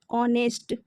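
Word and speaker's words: honest: अगर आपके पेपर में आवर ऑनेस्ट या फिर ऑनर ऐसे शब्द आते हैं तो इसमें आपने एन लगाना है। ठीक है? क्योंकि इसमें एच साइलेंट होता है।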